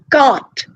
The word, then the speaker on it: cart: If you have cart, start, mart, dart, in all these words, the R, you're not supposed to pronounce it.